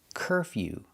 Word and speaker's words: curfew: Curfew. Making the y-yu sound. Curfew. Curfew.